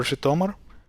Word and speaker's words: Zhytomyr: would be Zaporizhia or Zhytomyr. Zhytomyr is a little bit here. Let's start with Zhytomyr. It has this J at the beginning.